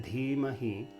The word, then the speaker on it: Dhimahi: Bhargo Devasya Dhimahi. So there's that again, the D with an H is Dha, Dha, Dhimahi. So the Dhi has a long I and Mahi has a short I.